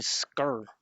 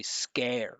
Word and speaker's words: scare: He's saying scur, right? He's got no openness. He's got no pitch. Right? Instead of scur, I would say scare. Scare. Look at my mouth moving. I'm highlighting it. It's a great scare like that.